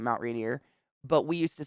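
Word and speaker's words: Rainier: we it's I mean if you're being serious in Washington it's Mount rineer right I'm not saying I don't think I'm saying it with an accent Mount rineer but we used to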